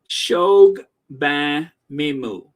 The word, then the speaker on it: Shogbamimu: and that there's really no excuse why you would not be able to sound it out. Shogbamimu. Shobagmimu. Most Shogbamimu. Right? It's just that simple. These are syllables that we use every day. They are not some type of like other type of pronunciation from how we would pronounce it in the English language. So you are going to say it correct.